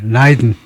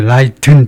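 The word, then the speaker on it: Leiden: 라이든. 그래서 라이든, 드가 들리면 벌써 발음이 엉터리가 되죠. 모음이 들어가 버린 소리입니다. 예, 하여튼 이중모음 라이로 발음을 해라 이거고요.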